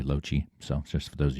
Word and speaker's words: Lochi: That's how you pronounce my name, by the way, lochie.